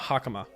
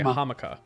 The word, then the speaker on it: hakama: bottom of the hammock the hakama i was about to say hamakah and get the two syllables mixed up exactly however in this